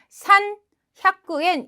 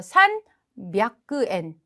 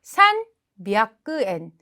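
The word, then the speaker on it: 三百円: 그러면 300엔은 산 샤쿠엔 이렇게 읽으면 좋을 텐데 300에는 살짝 발음이 바뀝니다.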